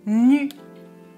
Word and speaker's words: nu: Nu, nu. Je prononce nu avec un U. La langue touche les dents.